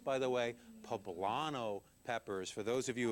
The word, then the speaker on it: poblano: green chili a little bit of heat it's pronounced by the way poblano peppers for those of you have heard it